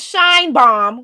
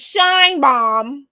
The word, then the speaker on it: Sheinbaum: But yes, her name is Sheinbaum, because to me it's obvious once I say her name. Her name is Sheinbaum.